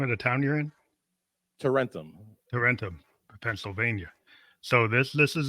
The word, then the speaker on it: Tarentum: How do you pronounce the name of the town you're in? Tarentum.